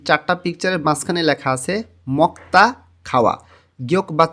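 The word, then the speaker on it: 먹다: পিকচারের মাঝখানে লেখা আছে মক্তা খাওয়ায়ক এর পরে যখন দিউত আসে তখন দ টা ত এর মতন উচ্চারণ হয় মক্তা খাওয়া এই চারটা জিনিস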